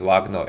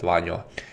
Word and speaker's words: Lagno: I have been warned that correct pronunciation is Lagno and not Vanyo, as I spoke in the previous video.